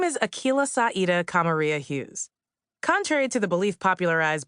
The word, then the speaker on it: Akilah Hughes: It's 25 letters, 11 syllables, and it rhymes up until the last name. It's pronounced Akilah Hughes. It's Swahili, Arabic, and Irish, respectively. Hughes is the Irish one, to be clear.